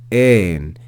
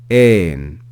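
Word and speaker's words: ἦν: Compare that with this third word, which starts with the eta, which is a longer e sound. Ein, ein.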